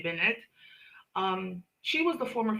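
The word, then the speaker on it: Bennett: Benette, oh, I mean it's spelled in English, right? Benette, Michelle Benette, but it's Queen Krill or French, you say Benette.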